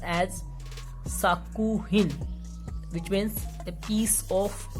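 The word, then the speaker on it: 作品: So if we are writing these together, these would be pronounced as sakuhin, which means a piece of work.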